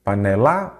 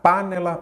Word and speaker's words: panela: vamos lá par nela Qual que é a sílaba tônica panella panela ou panela panela então é a penúltima aí você já sabe